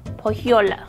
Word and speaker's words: Pulhula: Pulhula.